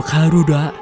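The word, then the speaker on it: カルラ: เป็น สาย พันธุ์ ใหม่ ซึ่ง คำ ว่า ข้า รู้ ละ ก็ เป็น การ ออก เสียง ของ คำ ว่า การูด้า ใน แบบ ของ ชาว ญี่ปุ่น นั่น เอง ศักดิ์สิทธิ์ สัตว์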